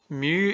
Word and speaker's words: mu: Mu is what we call, so you say it like that.